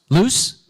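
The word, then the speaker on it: Luce: do you say the name of this mascot loose loose loose loose okay Lu u c e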